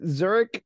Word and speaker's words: Zurich: the future so um interesting so um like Zurich is that how you pronounce that yep correct so Lake Zurich High